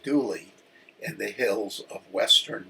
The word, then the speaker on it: Dula: Tom Dula, pronounced Dooley, in the hills of western North Carolina, was born in 1844 in Wilkes County, North Carolina.